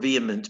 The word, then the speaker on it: vehement: your assignment is to use the word vehement but not pronounce the h use the word v